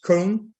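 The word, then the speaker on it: Köln: here colonia because in in holland we say colon and in german it's cone so this is what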